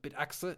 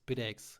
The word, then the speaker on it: Bitaxe: I'm hitting like request to speak, and the only thing I say it's not Bitaxe, it's Bitaxe, and I go out there again.